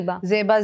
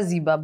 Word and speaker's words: Zeba: to talk about Zea have I pronounced it correctly it's Zea Zeba Zeba both are fine both are fine a